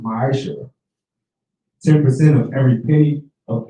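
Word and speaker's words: מעשר: Means tenth in the Hebrew, and is pronounced ma'asher.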